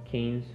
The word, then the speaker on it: Cannes: I mean, it won the I don't remember how to pronounce it, but Academy? Cannes Film Festival. Cannes? Cannes, oh, right, yeah, right. Yeah, Cannes.